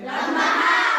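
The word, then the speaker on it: ح: শোষ করে শব্দ হবে লম্বা হা উচ্চারণে গলার মধ্যে শোষ করে শব্দ হবে কথা বুঝেন নাই খেয়াল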